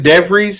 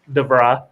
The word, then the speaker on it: DeVries: Darren DeVries, is that how you say it? No, DeVry. DeVry takes the West Virginia job.